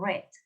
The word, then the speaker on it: read: igual pero se pronuncian reds como el color okay airways cien años de soledad break years ago lo leí se escribe igual pero se pronuncia red como el color ok tened en cuenta